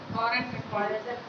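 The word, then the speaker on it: foreign: फॉरेन वो जी silent है उसमें।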